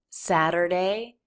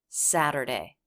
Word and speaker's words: Saturday: tell me on Saturday nice flap T there Saturday Saturday so we switch from the flap right into the schwa r unstressed syllable of Saturday so that front of the tongue will flap against the roof of the mouth and then pull right back a little bit to the r sadder Saturday Saturday on Saturday I